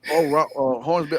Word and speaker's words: Hornsby: Charles Russell Hornsby, Hornsby, but Charles, not BMF, and yeah, that.